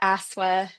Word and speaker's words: ASCSSW: Um so firstly uh ASA is how we pronounce the acronym uh is ACA's newest division.